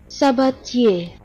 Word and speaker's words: Sabatier: There's one way to properly pronounce that name. Sabatier. Sabatier. The name Sabatier. If you've heard it pronounced differently somewhere else, they were wrong too.